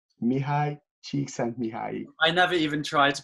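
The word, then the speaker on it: Mihály Csíkszentmihályi: whose name always pronounced bad. Yeah. His name is Mihály Csikszentmihalyi. Mihály Csikszentmihalyi.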